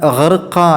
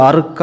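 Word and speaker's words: غَرْقًا: എന്നോ ഹാത്തി എന്നൊന്നും ആവരുത് അതുപോലെതന്നെ ഹർക്ക എന്നുള്ള ഹൈനിന്റെ സ്ഥാനത്ത് അത് അർക്ക എന്നോ മറ്റോ ആവരുത് അവിടെ ഹൈനആണ് ഹർക്ക എന്നുള്ള രൂപത്തിൽ അവിടെ ഉച്ചാരണം ശരിയാവണം പിന്നീട് മൂന്നാമത്തെ ആയത്തിൽ വസാബിഹാത്തി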